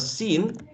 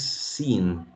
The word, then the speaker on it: seen: And the word seen, it's just e and n, right? Seen, just like the word the participle of see is seen, So it's very, don't get confused with the spelling, SCENE, but seen. Okay, just say seen. Okay, with a long e, seen.